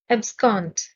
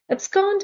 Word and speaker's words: abscond: establish sanction support abscond stress is on the second syllable abscond abscond means to leave secretly